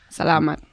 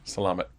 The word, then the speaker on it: salamat: Salamat. Salama with a T. Salamat. Salam alaikum.